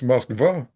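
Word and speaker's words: Москва: I studied Russian in high school for 2 years, and in Russian it's Moskva.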